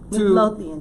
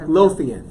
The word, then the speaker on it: Midlothian: Midlothian, Texas, right outside Midlothian. Yes. Midlothian. That's like 4 syllables?